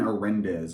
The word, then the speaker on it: Arendez: But I want you to go look up Aiden Arendez on YouTube. It's his YouTube name is I'm.horrendous. It's how his name is pronounced. I'm horrendous.